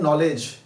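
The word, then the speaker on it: knowledge: Knife या पढ़ते हैं नॉलेज, तो जब नाइफ और नॉलेज पढ़ते हैं तो वहां पे के साइलेंट हो जाता है।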